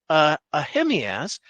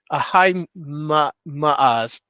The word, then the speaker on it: Ahimaaz: I don't know why I have such difficulty saying the name Ahimaaz. I guess in the English language, we're not used to pronouncing two vowels that are next to each other that one isn't silent.